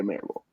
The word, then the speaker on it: Mirabal: Mirabal? Yeah, Mirabal.